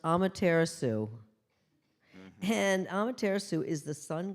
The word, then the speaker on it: Amaterasu: divide it up like that now this is pronounced Amaterasu and Amaterasu is the sun goddess of the